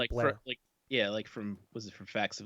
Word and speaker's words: Bel Air: up to Bel Air, but it's all pronounced Blair. Blair. Everybody says Blair.